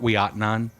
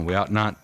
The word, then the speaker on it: Ouiatenon: Fort Ouiatenon, and it doesn't look like you'd spell it. It's French, and those French have a word for everything. What? I don't know. Ouiatenon.